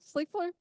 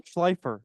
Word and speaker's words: Schleifer: Schleifer? Hello, check. Can you hear me? Yeah. Is this working? Yeah, Is can it you on? pronounce it for me? Schleifer.